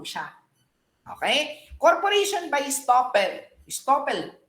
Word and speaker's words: estoppel: Estoppel, the right pronunciation is estoppel.